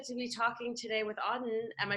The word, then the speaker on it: Auden: i'm so excited to be talking today with auden am i pronouncing your name right yeah that's right i'm